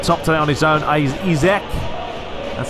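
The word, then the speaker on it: Isak: Izek, that's how you say it.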